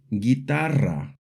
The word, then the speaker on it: guitarra: E or an I, we add a silent U after the G, like in the words guitarra, guerra, juguete.